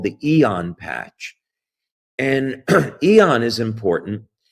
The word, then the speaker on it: AEON: Now it's spelled AEON. Okay. So I don't want y'all to, some people say Aeon, but it's Eon patches.